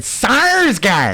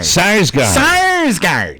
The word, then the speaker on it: Sarsgaard: Sarsgaard. Sarsgaard.